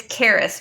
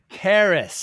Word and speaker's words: Karras: Karras, thank you so much for your time today. It's Karras, by the way. Karras.